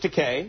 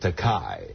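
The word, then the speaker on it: Takei: But he kept pronouncing it Teai, right? And I kept correcting him. I couldn't get it into his noggin. Right. So, I thought I'd give him a a way to rhyme that would stick with his head. Easy for him to remember. Yeah. I told him, "Bill, it's te just like rhymes with toupe."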